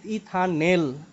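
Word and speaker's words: ethanal: আমাদের নামকরণ হওয়া উচিত ইথানেল আচ্ছা আমি একটু উচ্চারণ গুলো বলি আগে হ্যাঁ অ্যালকোহলের শেষে অল হবে আর অ্যালডিহাইডের ক্ষেত্রে এল হবে এল যেমন এটা কি লিখছি এটা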